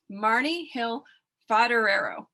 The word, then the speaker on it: Marni Hill Foderaro: Today, my guest is Marni Hill Foderaro. Did I pronounce it right this time?